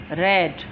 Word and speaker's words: read: First form को हम रीड पढ़ते हैं और सेकंड को रेड और थर्ड को भी रेड।